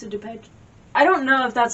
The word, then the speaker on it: Depeche Mode: like strange you know that no it's a dupage i don't know if that's how you say mode yeah i don't know how to say it but yeah it's depeche mode i thought it was the mode i don't